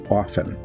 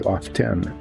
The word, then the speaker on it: often: really upset about this it's the pronunciation of often o f t n where people say often and that's a fairly recent development we never said often we said often and he likes to